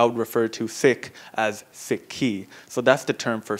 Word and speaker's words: Sikhi: about the relig religion we add the I on the end s i k hi I and it becomes siky now the basically gbani